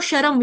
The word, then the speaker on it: श्रम: आप कह रहे हो शर्म ये शर्म नहीं कहना है श्रम श्रम मतलब कि मेहनत